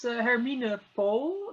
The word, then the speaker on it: Hermine Pool: Yes, my name is Hermine Pool. That's the correct pronunciation.